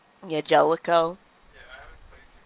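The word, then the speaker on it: Jaleco: How's it pronounced? Like Jalico? Yeah, Jellico.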